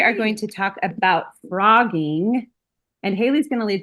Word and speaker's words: phrogging: never knew the term frogging. I was aware of the phenomenon of hiding in somebody's house, but I'd never heard it called frogging, which is spelled with a ph.